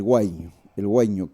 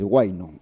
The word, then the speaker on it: huayño: Primero, el huayño, que en el altiplano se pronuncia con la ñ, ¿no? Los demás territorios hacia el norte del Collasuyo es huayno, y todos sabemos que es un huayno.